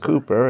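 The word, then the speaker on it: Cowper: they are uh like samuel cooper uh spelled calper but pronounced cooper and there's only two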